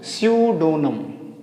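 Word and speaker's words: pseudonym: Pronunciate नहीं करेंगे। क्या बोलेंगे? स्यू डोनम सडोनम बड़ा खतरनाक तो इसको याद कर लेंगे ये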